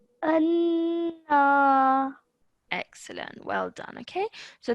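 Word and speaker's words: أنا: So I would say anna. أَنَّا.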